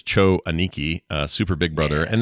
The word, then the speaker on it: Cho Aniki: everybody let's get our choco Niki hooky Haka going here shall we play a game the actual pronunciation is Cho aniki uh super big brother